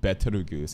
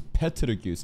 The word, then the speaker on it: Petelgeuse: It's not Betelgeuse, it's Petelgeuse, but because the Japanese pronunciations, it's more of a B sound, everyone's more familiar with the B, but apparently it's P.